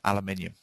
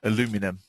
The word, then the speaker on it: aluminium: probing metal lines that are aluminium or aluminum, as you Americans say.